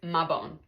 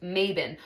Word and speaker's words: Mabon: The way it's written out that we would pronounce it in the United States is Mabon, right? And then online you see that people say like, oh, like it's actually pronounced Mabon.